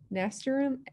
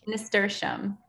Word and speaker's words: nasturtium: Is the PLBEE name Nasturium? NASTURSIUM. I should be able to pronounce that. Oh, nasturtium.